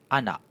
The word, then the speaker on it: anak: through one by one so this letter a has the pronunciation ah as in, in English, it is in the English word arm so this arm—this word arm has the sound ah in it and in Malay you